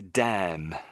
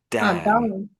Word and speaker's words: damn: So I So we in in English we say damn. Damn. Damn. So the N is almost silent in a way.